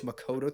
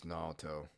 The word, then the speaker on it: Naoto: various escapades Nagatoro puts Makoto through good? Got his freaking name wrong. It's Naoto. His name's Naoto.